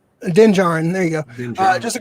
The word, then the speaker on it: Din Djarin: I can't even pronounce his name. Din Djarin.